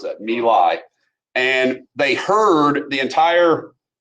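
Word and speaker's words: My Lai: into this Village called nilai that's how you pronounce that milai and they heard the entire Village into a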